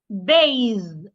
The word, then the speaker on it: bathe: Ba for the voiced th my tongue must be outside also and then I make vibration z bathe bathe ba bathe let's